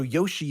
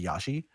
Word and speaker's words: Yoshi: find a lot of British people call him Yosi as well I call him Yosi yeah I don't know I mean so Yoshi is not the way that Americans would pronounce